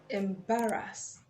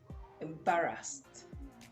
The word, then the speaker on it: embarrassed: Embarrassed, embarrassed, embarrassed. Of course, it ends with a sound also, and then it follows to add the sound. The ed would be pronounced as embarrassed, embarrassed, not embarrass. Embarrassed.